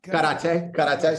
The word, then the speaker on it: karate: Karate gets a bad rap, but between it's pronounced karate.